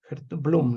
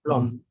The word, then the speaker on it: Blom: Blum, ¿no? Gertrude Duby Blom, sí. Blom.